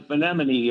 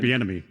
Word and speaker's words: Bieniemy: I think the one that caught my eye was Benemini, or I always mispronounce his name. Eric Bieniemy.